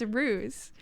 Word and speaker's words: Roose: R Ro Roose Ro like a rooster without the T oh it actually means a ro Roose it's like the way that it's spelled in your name means Giant in Dutch so as like maybe you have like some Dutch roots or something but nope it's ruse yeah it means giant